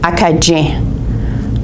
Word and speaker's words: Acadien: In Acadian French, the C and the C is pronounced like d-j, like Dieu, like God is D-I-E-U. It's pronounced je, D-J-I-E-U, okay? So Acadian, in French Acadian, would be pronounced Acadien, Acadien.